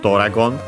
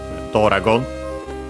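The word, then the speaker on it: ドラゴン: First and foremost, Doragon. As you have seen, accented on the do, so be careful, unlike in English.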